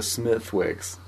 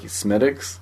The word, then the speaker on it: Smithwick's: Someone made me look like an ass at Old Chicago's. I ordered a Smithwick's. And they're like, Smittix?